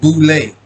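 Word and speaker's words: Boulé: is an acronym for sigma phi fi pronounced boule right fashion after yale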